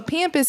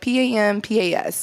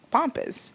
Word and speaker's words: pampas: I saw somebody spell so pampas is like PAMPAS, like when that's how I would say it, right? But I've also seen some people spell it like POMPAS, so that would be pampas. But I'm like, Well, I'm pretty sure it's pampas.